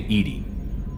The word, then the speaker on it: EDI: Why are you named Edie? Edie is the phonetic pronunciation of E-D-I.